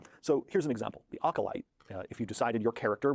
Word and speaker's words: acolyte: Oh, I know he's saying acolyte, but I've never heard it referred to as acolyte. I've always heard it pronounced acolyte, so that's just throwing me. So, like, acolyte sounds like it's OCOLYTE. Acolyte, not acolyte.